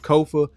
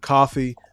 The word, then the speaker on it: Kofa: I am your host Kofa k-o-f-a not coffee not Khufu not Kofi or any variation thereof Kofa rhymes with sofa easy to say easy to spell right there on the